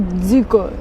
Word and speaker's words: Zuiko: It's not Zuiko, it's Zuiko. Really? So I have been pronouncing it wrong all this time.